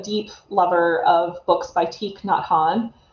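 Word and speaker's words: Thich Nhat Hanh: lover of books by teak not han that's spelled um t h t h i c h um n h a t and then h a n h he's a vietnamese monk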